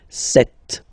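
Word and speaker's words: sept: Then here, remember, p is not pronounced, okay? It doesn't exist. So you get this set sound.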